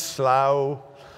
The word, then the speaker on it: slough: finds himself in the slough or slew or slough of despond. It's slough, but you may use a different pronunciation here.